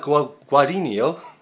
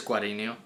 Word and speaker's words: Guadagnino: We've pronounced his name once, we'll pronounce it again. Luca Guadagnino. Yeah, I think it's Guadagnino.